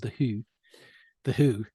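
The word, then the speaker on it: The Hu: And there's a great band called The Who, but it's spelled H-U.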